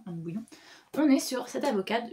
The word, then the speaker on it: Anne Bouillon: Voilà, j'ai lu Les femmes ne meurent pas par hasard, Anne Bouillon. Je crois que ça se prononce comme ça, Anne Bouillon.